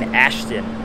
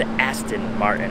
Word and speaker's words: Aston Martin: beautiful I feel like I keep saying ashon I think it's Aston Martin if I'm not mistaking I think my pronunciation is just going off on that but yeah very